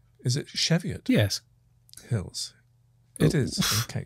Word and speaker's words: Cheviot: from the cheviot hills and dude am i pronouncing cheviot right is it cheviot yes hills it is okay you know what